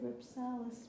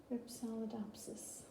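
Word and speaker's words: Rhipsalidopsis: I might have said Ripsalis, but it is Ripsalidopsis.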